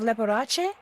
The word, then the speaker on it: Leporace: Yes, is this Detective Leporace? Hey, she pronounced it correctly.